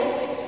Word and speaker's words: ओष्ठ: Okay, lips दो है हमारे, इनको होठ बोलते हैं हिंदी में, संस्कृत में बोलते हैं ओष्ठ, सही उच्चारण है ओष्ठ।